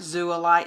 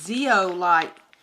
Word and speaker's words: zeolite: is zoolight um yeah that's a zeolite i'm not saying it right zula light it's zeolite that's what these two